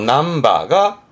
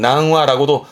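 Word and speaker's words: 何羽: 발음은 남바. 요즘은 보면 복잡하다고 전부 다 와를 써가지고 낭와, 뭐 세 마리면 상와 그러는데, 세 마리도 삼바, 몇 마리도 남바가 원래 정확한 표현이고요. 근데 요즘은 그냥 낭와라고도 쓰기도 한다고 합니다만은, 정확히는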